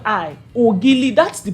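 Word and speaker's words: Ogili: oil it's spelled o g i l i oil that's the pronunciation but there was this particular boy that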